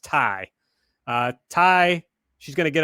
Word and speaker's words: Tay: is about to hit tay i'm sorry tai they made very clear on the show that her name is pronounced tai uh tai she's gonna